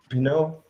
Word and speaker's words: Pinot: Is that Pinot? Pinot, Pinot, like the wine.